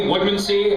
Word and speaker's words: Woodmansee: Woodmansee. Adam actually pronounced the last name correctly, Woodmansee. I had to say it Woodmansee because I don't trust you dropouts to fucking say it right.